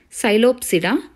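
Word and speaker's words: Psilopsida: thirties silly up serum so P is silent here sigh lobe serum and light Copsey da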